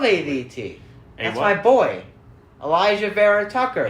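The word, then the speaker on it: Vera-Tucker: that's my boy elijah vera tucker i said i said elijah very tucker on the podcast because i didn't know how to say his name i forgive you my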